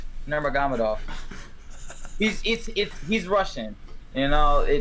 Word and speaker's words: Nurmagomedov: It's Nurmagomedov.